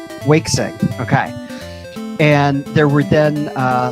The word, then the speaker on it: Waixing: Gardman was created by, I have no idea how to pronounce this, Waixing. Oh, Wakesing. Wakesing, okay.